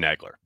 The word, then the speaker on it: Nagler: nice job with pff is your last name pronounced nagler or nagler george was saying what was he saying the former i i tell her but i don't care how you say it i say aaron negler that's how i say